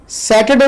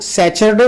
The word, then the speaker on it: Saturday: सैटरडे को हमारे यहाँ बहुत से लोग सैचरडे बोलते हैं और वेंसडे को बोलते हैं वेडनेसडे।